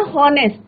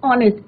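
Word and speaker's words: honest: कई बच्चे बोलते हैं ना हॉनेस्ट, तो हॉनेस्ट ये इट इज ऑनेस्ट, एच जो है यहाँ पे क्या रहता है बच्चों, साइलेंट रहता है।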